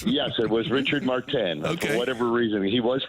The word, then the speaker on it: Richard Martin: perau and Renee Rober and how did we pronounce it Richard Martin when shouldn't it have been Richard martan yes it was Richard martan for whatever reason he was French I guess